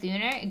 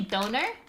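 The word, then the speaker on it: döner: I Why do you pronounce it like duner? Go. Duner. That's how I was told it was pronounced. Is that Do you say donor?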